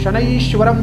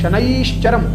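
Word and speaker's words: शनैश्चरम्: यहाँ पे बहुत से लोग लास्ट में शनैश्वरम बोलते हैं, पर ऐसा नहीं बोलना है। शनैश्चरम, व्यास जी ने बहुत सोच विचार कर ही शनैश्चरम लिखा है पुस्तक में, तो आपको इसमें चेंज करने की आवश्यकता नहीं कि आप शनैश्वर कह दें।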